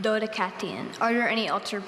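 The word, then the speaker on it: Dodecatheon: Dodecathion. Dodecathion. Are there any alternate pronunciations? No, there are not. Okay, repeat the word. Dodecathion.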